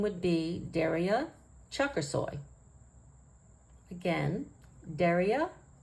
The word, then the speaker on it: Çakirsoy: would be pronounced similar to Chuck or soy so it would be chucker soy if we want to pronounce it really correct I think there's an accent more on this last syllable than on the other two so it would be